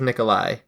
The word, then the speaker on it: Nicolaj: In third place, Nicolaj Dam. In second place, Gregory Basilio. And in first place, Ryan Atkins. Basilico. Yeah, and I think it's Nikolai. I think the J is silent for that.